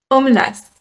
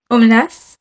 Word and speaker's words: Omelas: france à ma question ça se prononce aux menaces aux menaces je vais en tout